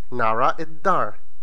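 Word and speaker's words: nara d-dar: You write nara d'dar, but you pronounce it nara iddar. That is a bit difficult to remember, because you see something different and you pronounce something that is not seen.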